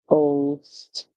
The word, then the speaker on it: ghost: and H together but you just say that the H is silent the G makes ghost ghost our word is